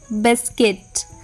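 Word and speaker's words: biscuit: anti Q बी आई एस यू आई टी बिस्किट सी O double L ई ए जी यू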